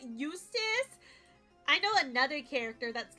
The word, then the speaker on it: Eustace: Eustace literally rhymes with useless.